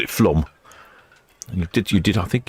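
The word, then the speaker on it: Flåm: Oh, he says it's Flom, not Flam.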